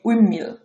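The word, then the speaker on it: windmill: পরে উচ্চারণ উইন্ড মিল, এটা উচ্চারণ হবে উইন্ড মিল, উইন্ড মিল, উইন্ডমিল।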